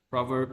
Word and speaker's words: proverb: like some Proverbs Proverbs how do you say this proverb or prover proverb proverb proverb proverb proverb proverb no PR PR not pro PR so a proverb what